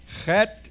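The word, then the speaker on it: חית: Chet is on back of the throat on top.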